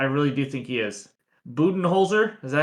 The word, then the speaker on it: Budenholzer: Budenholzer, is that how you pronounce it? I think you nailed it. Coach Awesome Coach job. Could be wrong. Budenholzer?